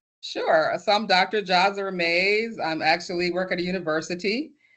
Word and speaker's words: Jahzara: Jahzara, to pronounce it Yep.